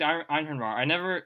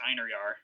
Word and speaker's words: Einhorn: Nobody knows how to pronounce it because it's a weird Norse word, but I believe it's pronounced Einhorn. Okay. And I only know that from playing a lot of Age of Mythology back in the early 2000s, because that's how they pronounce it. So that's how I'm saying it.